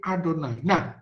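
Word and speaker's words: Adonai: itu kan tapi di tapi saudara tidak boleh membaca nya Yahweh atau Yoga karena nama itu adalah nama yang kudus jadi saudara harus membacanya sebagai adonan sekedar info Hai Bisa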